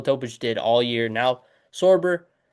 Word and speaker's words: Sorber: Thomas Sorbar, Sorber or Sorbet, I I'm not sure exactly how you pronounce his name. I believe it's Sorber.